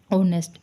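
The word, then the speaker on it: honest: आ तो यहां पर एन ऑनेस्ट एच साइलेंट होता है इसमें ओ ऑनेस्ट तो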